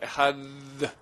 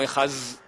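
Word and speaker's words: אחד: La vraie prononciation, c'est un peu comme le TH anglais. Un D. Il faudrait faire Echad. Les gens ne savent pas très bien faire, alors ils font Echaz.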